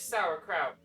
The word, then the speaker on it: sauerkraut: That is sauerkraut. I'm an idiot. I had to tell Azzy. I'm an idiot. I was mispronouncing sauerkraut.